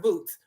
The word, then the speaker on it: Bout: basically has um victor boots his name is pronounced boots a russian arms dealer he's got 25 years